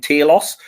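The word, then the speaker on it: Talos: has been Mendo Mendelson playing Taos which I don't know why they pronounce it like that and it bugs me no end but that's how they do it so I'm going to have to follow them uh so yeah how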